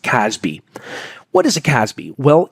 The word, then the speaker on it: CASB: Let's start with the cloud access security broker, a CASB, otherwise just pronounced "Casby".